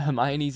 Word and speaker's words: Hermione: language schools as a reader finding out that Hermione's name is pronounced Hermione in the Goblet of Fire was